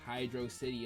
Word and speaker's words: Hydro City: Hydro City Zone Act 2, which, yes, Hydro City is the correct way to pronounce this, follows in the footsteps